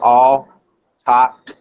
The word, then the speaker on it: Autochthon: to pronounce the name it's a three-syllable word so it's all top and that means it